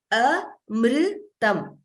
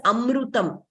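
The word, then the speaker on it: अमृतम्: Very commonly, we hear it as amrutam. It is not amrutam. In Sanskritam, we do not pronounce that way. There is no u.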